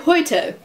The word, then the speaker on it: heute: If you see an E at the end of the word, you have to actually pronounce it. It's like in the word heute. Now, heute is a weird word, but it like the heute, at the end of it, you have the E sound.